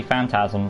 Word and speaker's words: Phantasm: tall man from phantasm it's not pronounced phantom it's actually phantasm the phantasm series or